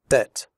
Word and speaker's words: debt: Debt. In the word debt, the b is silent.